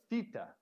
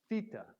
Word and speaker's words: theta: The next letter we learned was theta, theta. And this is a harder TH.